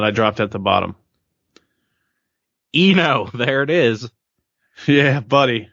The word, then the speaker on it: Eno: X-Men that's right there yep says it says Eno not Gino just saying the g is silent it's not even it's pronounced Eno hoo yeah yeah it's Kino from now on